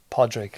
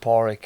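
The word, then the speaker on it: Pádraig: spelled the way it's Podrick like but I pronounce it poric and it's always been that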